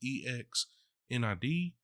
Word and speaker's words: Xnid: It's ex Nid.